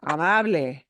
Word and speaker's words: amable: this combination in English, anything with a BLE, that's a silent E. And in Spanish, there is no silent E, right? You have to pronounce all those vowels. So that is amable, amable.